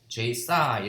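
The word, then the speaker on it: J/ψ: 그래서 실질적으로 그 원어 발음은 J 싸이 이렇게 읽습니다.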